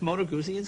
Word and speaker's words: Moto Guzzi: Beemer that's cute a moto Guzzi did I pronounce that correctly that's moto Guzzi yeah wouldn't know what kind of a bike